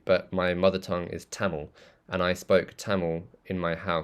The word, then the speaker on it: Tamil: So I consider Tamil to be my first language because Tamil is, or Tamil, which is how it's pronounced, Tamil, is how I spoke at home for the first few years of my life.